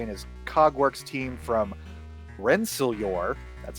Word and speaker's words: Rensselaer: dr wayne gray and his cogworks team from rensselaer that's how it's pronounced that's how they told me came to